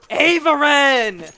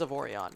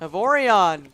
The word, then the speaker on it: Avorion: It's Avorion. Oh my god, I'm pronouncing his name wrong the entire time. Yeah, I don't know. Avorion, thank you.